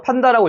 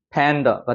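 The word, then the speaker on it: panda: 그래서 어떻게 읽을까요? 팬더가 되는 거예요. 팬더. 팬다가 아니라 팬더. 그죠? 뒤에가 약해지는 발음.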